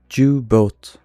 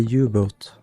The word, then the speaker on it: U-boat: How do you say Jew-boat? Jew-boat. U-boat. It's a U-boat.